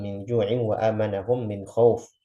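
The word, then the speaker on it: خوف: ju'in wa amanahum min khauf. Itu yang benar kan begitu aja, khauf. Jelas fathahnya, jelas wawnya.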